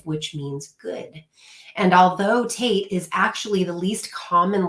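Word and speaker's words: טית: The number or the letter for this month is Tate, and the pronunciation is T as in tall and rhyming with mate, which is interesting. I know, I just thought it was Tat.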